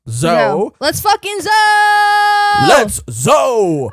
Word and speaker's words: Zou: At least that's how I've been told it's pronounced. Zou.